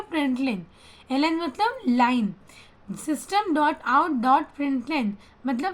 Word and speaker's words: println: और LN एक अलग वर्ड है लेकिन हमको उसको प्रिंट लेन के साथ लिखते हैं, उस प्रोनाउंस करते हैं प्रिंट लेन।